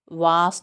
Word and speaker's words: was: Was नहीं होता, वेस नहीं होता. It's was. वा पूरा समय लगेगा. बड़ा आ है, टू डॉट्स भी ज साउंड है.